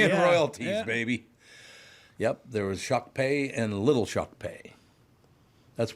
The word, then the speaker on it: Shakopee: by the way Shakopee you think it should be shock P it's shock pay shock pay is how